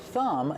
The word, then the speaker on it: thumb: Remember with thumb the B at the end is silent.